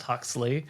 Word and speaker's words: HXLY: Yeah, it's called HXLY, pronounced Huxley, but only because Huxley is already taken as like an actual cosmetics name.